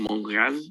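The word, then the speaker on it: Montréal: tienen ellos acá no bueno Entonces en realidad Montreal o Monte real es la abreviación Monreal así se pronuncia allá le dicen pues significa Monte real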